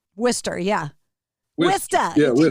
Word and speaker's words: Worcester: Worcester? Worcester, yeah. Worcester. Yeah, Worcester. Just take all the unnecessary letters out of there.